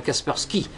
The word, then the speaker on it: Kaspersky: qu'on vous met d'office qui s'appelle Kaspersky, puisqu'on prononce à l'anglaise, enfin Kaspersky.